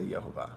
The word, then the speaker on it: Yehovah: He Vav He, but I say Yehovah, right? Because there's no hard J sound in Hebrew. It's a Y, even though we write J in English.